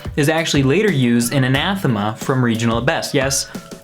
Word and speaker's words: Anathema: of this song is actually later used in Anathema from Regional at Best. Yes, it is pronounced anathema.